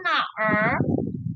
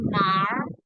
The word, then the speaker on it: 哪儿: Wang Lin, 我叫王林，认识你很高兴。玛丽，认识你我也很高兴。王兰, di sini tulisannya naer, ya. Kalau ini sendiri namanya di sini na. Nah, ketika jadi satu, bacanya bukan naer, tapi nar, nar aja. Nar.